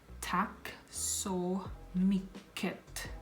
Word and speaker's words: tack så mycket: And thank you so much is tack så mycket, which is thank you so much.